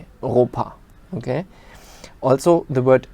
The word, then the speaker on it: Europa: EU is pronounced oi. So for example, Europe in German would be Europa. Europa.